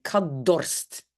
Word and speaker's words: dorst: Dans la langue officielle, tout va devenir D, on va dire kadorst.